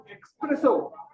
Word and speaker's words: espresso: it's pizza pizza so another word that is expresso yes and it's an Italian word and again this the stress is in the middle so we say espresso